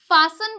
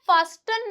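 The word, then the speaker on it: fasten: एक और रूल देखिए, अगर टी से पहले ऐसा है तो टी साइलेंट रहेगा, ठीक है। जैसे कि एफ ए एस टी ई एन, तो इससे क्या बोलते हैं? फासन बोलते हैं, फास्टन नहीं बोलते। बहुत से लोग इसे फास्टन बोलते हैं। तो यहाँ पे टी जो है वो साइलेंट है, क्योंकि उससे पहले क्या आ रहा है? एस आ रहा है। तो इसे क्या बोलेंगे हम? फासन बोलेंगे।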